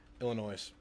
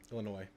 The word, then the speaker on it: Illinois: Illinois. Illinois. The the S is silent.